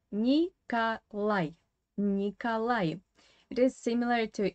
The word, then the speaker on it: Николай: But here again, you need to pay attention to the Russian phonetics as usual, because this O is in unstressed weak position without stress, and it should be pronounced as A. Николай.